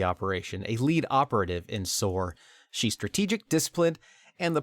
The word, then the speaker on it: SOAR: SOAR. SOAR also is what that would be pronounced as.